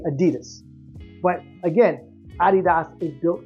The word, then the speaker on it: Adidas: together and became Adidas that's why it's pronounce Adidas everywhere in Europe because they know the proper saying and the story behind the name whereas we say Adidas but again Adidas is